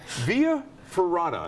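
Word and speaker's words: via ferrata: whoa I'm just gonna leave right up no via ferrada am I pronouncing it right yeah you are yeah the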